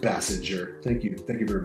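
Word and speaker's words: Basinger: side like woohoo pleas Ken says it's pronounced Bassinger thank you thank you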